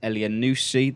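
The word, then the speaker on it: Elyounoussi: to Armstrong from Celtic seven million pounds Mohamed le a new seed that is the correct pronunciation by the way 16 million from Basel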